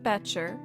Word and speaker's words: Becher: Mount Becher, rhymes with Fetcher, according to the Exploring